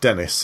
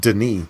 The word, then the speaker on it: Denis: is called Denis Villeneuve, it's not Dennis, it's pronounced Denis, apparently, I've been told, by someone who knows him.